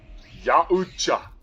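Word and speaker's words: Yautja: It is YA as in Ya, Oot as in OOT, Oot-ja, Ya-oot-ja.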